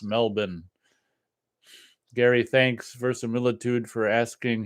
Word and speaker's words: Melbourne: I hear that it's pronounced Melbourne.